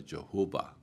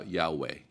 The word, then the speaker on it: Yahweh: a longest while uh we pronounce the name of God as a Jehovah uh and then uh at our best guesstimate we uh pronounce it now Yahweh yah or VAV is